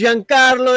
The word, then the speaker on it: Giancarlo: It's Giancarlo Esposito.